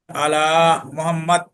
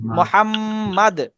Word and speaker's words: মুহাম্মদ: মুহাম্মদ।